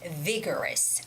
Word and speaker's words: vigorous: the words could be vigorous vigorous okay you're having very a life full of something it's vigorous vigorous okay there's a stress on the first syllable which is vi vigorous vigorous life vigorous okay